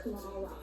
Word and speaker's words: Kamala: My name is pronounced Kamala.